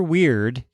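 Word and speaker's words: Wyrd: Weird. But it's spelled W-Y-R-D. Or is that word? No, I think they're going for weird.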